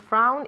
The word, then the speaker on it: frown: time no i won't frown if i don't understand your joke very good okay frown with that u sound okay frown okay the